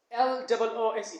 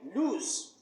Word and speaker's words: loose: But the word L-O-O-S-E is not pronounced lose. It should be loose.